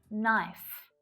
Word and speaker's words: knife: get started with, but there are several common English words that have a silent letter K. And notice that it always happens before an N. Try these ones out with me. Knife, not, knowledge, knack, knuckle, knob, knit.